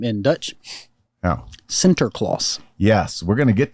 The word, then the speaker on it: Sinterklaas: Now, Sinterklaas.